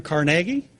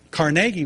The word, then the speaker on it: Carnegie: have heard of Andrew Carnegie. Started Carnegie Steel. Yeah, he pronounces it Carnegie, so we'll go with, we can say Carnegie if you want, but he pronounced it Carnegie.